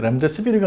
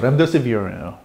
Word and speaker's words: 렘데시비르: 이 렘데시비르라고 발음을 하는 것 때문에 참 논란이 많은데 렘데시비르가 아니라 영어 발음은 렘데시비어입니다.